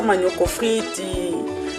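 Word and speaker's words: manioc frit: très populaire manyu offredi on appelle ça manioc offrit ti c'est comme ça il faut prononcer voilà à nouveau freddy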